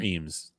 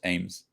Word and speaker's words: Eames: Ames or Eames? I think it's technically pronounced Ames, but I could be wrong.